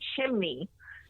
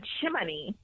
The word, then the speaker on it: chimney: see she couldn't say chimney she said chiminey and I was so annoyed with the fact that she couldn't say it right I was like how